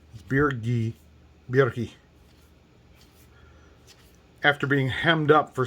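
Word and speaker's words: Birgi: there's god beergi now it's not birji beer ghee after being hemmed up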